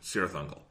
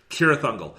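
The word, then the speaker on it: Cirith Ungol: and frodo is in sierra thundel god damn it c no soft c no south seas kira thundel so uh there's a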